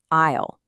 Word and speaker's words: aisle: Now, this word is a bit of a tricky one because that S is totally silent. It's pronounced isle.